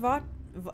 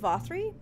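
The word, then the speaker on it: Vauthry: sin eaters they say Lord Vaught it's pronounced vathri bothering someone with the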